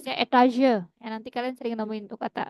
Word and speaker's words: Etage: 'Jadi', kata ini juga digunakan dalam bahasa Jerman, artinya lantai, 'Stock', tetapi pengucapannya dalam bahasa Prancis, 'etage', Anda akan sering menjumpai kata 'floor', ' dritten Etage', 'zweiten Etage'.